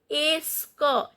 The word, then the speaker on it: est-ce que: Est-ce que, t is not pronounced.